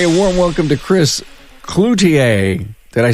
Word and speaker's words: Cloutier: getting together with Chris, I'm going to actually pronounce his French name the right way. You've got it. Cloutier. Cloutier.